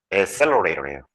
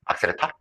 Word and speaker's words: accelerator: 악셀레타? 어디서 봤어요? 그 자동차 있잖아. 브레이크 옆에 있는 페달. 악셀레타. 어른들이 저렇게 발음 잘하는데. 그죠? 저기 뭐냐, 영어의 발음을, 조금 일본식으로 이렇게 발음하는 경우 많잖아.